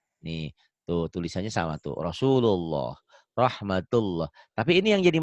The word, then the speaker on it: Rasulullah: Lafaz Allah dibaca tebel kalau sebelumnya baris atas tuh domah ya. Ya. Rasulullah tuh ya dibacanya Rasulullah.